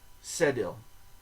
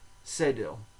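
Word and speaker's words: cédille: s and or you could say just C sedil sedil okay because it's spelled c e d i l l e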